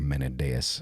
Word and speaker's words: Mendes: like the go of Mendes you're talking about or menas I suppose would be the pronoun of correct pronunciation I'm doing like a Spanish pronunciation menas I think would be the proper pronunciation there but you know what